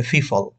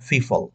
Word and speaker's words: people: আপনারা বলবেন হয়তো এটাকে ফিফল, মিট ডিফারেন্ট পিপল। আল্লাহর ওয়াস্তে আপনার এর উচ্চারণটা ফিফল করবেন না। এটার উচ্চারণ করার সময় আপনি দুই ঠোঁট বন্ধ রাখবেন। পিপল।